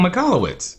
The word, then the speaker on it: Michalowicz: Michael Michalowicz. Yeah. Yes. Yep. And I'm glad you pronounced that correctly, because I would have butchered that name.